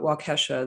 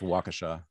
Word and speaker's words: Waukesha: know you have this i don't know how to pronounce it but wakasha the the christmas parade the guy who slammed into the christmas great i think it's waukesha i think um and